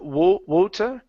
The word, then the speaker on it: water: okay so instead of water with an old sound it's ah wah water what huh so that that tea in the middle there we pronounce it like an R in Italian or in spanish so if you have